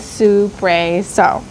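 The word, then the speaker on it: soubresaut: The second word I heard was suprao.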